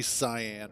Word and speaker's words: cyan: the hyper tube Cen I pronounce it Cen I know it's supposed to be cyan or something like that but I pronounce it